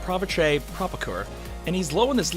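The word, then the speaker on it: Pavitr Prabhakar: his real name is pep-pep a pitcher Prabhakar okay I'm a white guy from Florida I'm sorry i can't speak indian in all seriousness his name is pronounced pravesh a prop occur and he's low in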